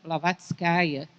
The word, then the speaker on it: Blavatskaya: Helena Petrovna Blavatskaya, é uma característica do russo, os nomes têm feminino, então o correto seria que o nome dela fosse pronunciado assim.